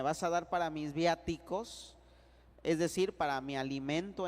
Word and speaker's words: viático: reserva eucarística fue el viático el viático viático V y latina a de Arturo t de Tito I de inteligente C de casa y o de Orlando betico acento en la a viático Sí verdad acento en